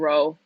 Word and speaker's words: rho: This is P, but it's actually pronounced like some Greek term called rho.